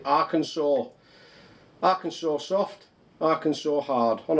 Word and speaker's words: Arkansas: No, Arkansas. They don't pronounce it like that, do they? They pronounce it Arkansas.